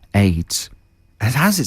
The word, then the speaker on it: Adez: yeah and it's called aids and how's it spelled a d e z as probably pronounced adairs but it reads a d e z aids yeah that's not too